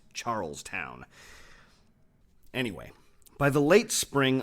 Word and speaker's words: Charlestown: And yes, before you give me a hard time about pronunciation, I know that these days people call it Charleston, but back in the 1700s it was Charlestown. 2 words, Charlestown.